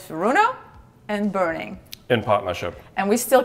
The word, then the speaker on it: Boening: It's Furuno, and burning. In partnership. And we still can't agree on how that's pronounced. Because so it's burning, because it's an umlaut. It's a O with the two dots on top.